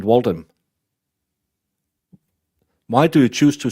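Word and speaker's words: Waltham: saying it wrong wrong how can Walt ham be pronounced Walt ham why is it walam why do you choose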